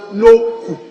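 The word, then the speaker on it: Nokoe: Noku pronounced as in a U. Okay. N-O-K-O-E, but it's pronounced Noku.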